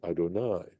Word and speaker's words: Adonai: when we say even when we pronounce this ad we say Adonai right we don't pronounce this Y at all that that's the implic